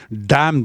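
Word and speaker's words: damn: डैम that job. डैम मतलब बुरा कहना। डैम वि हिम। डैम we that fellow. D ए एम एन और उच्चारण है डम न जो है साइलेंट है तो डम विद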